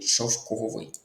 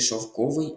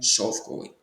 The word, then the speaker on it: шовковий: Тут наголос неправильний у слові шовковий. Наголос повинен бути шовковий, а не шовковий. Наголос на другий склад шовковий.